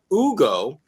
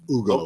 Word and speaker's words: Hugo: Uh Ugo Gonzalez. Nope, that's that's the right pronunciation, right G? That's correct. Ugo.